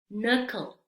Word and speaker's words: knuckle: Y si se fijan, cuando está al inicio de la palabra y está junto a la letra N, la K es muda, no se pronuncia.